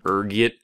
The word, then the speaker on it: ergot: There's a few different ways you can pronounce it depending on your social standing, ranging from ergot to Allegro. Being the disheveled pauper I am, I prefer ergot.